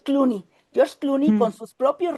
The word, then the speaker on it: Clooney: actor de Estados Unidos, yo lo pronuncio en francés porque el apellido es francés, no me acuerdo cómo se pronuncia en inglés, Cloney, no recuerdo ahorita su nombre. Ah, George Cloney. George Clooney.